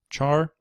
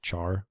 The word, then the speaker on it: char: like integer floating Point Char or car I've heard it pronounced both ways it's just car sounds kind of weird so I always just say Char like chor going to look at